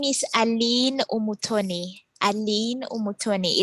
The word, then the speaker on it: Umutoni: So my name is Aline Umutoni. Aline Umutoni. It's a French name, and then my last name is Umutoni. So the U is pronounced U.